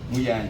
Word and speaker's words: Muyanja: Simon Muyanga Lutaya. Muyanja, I don't know. Muyanja, I think. He has corrected me, my Lord.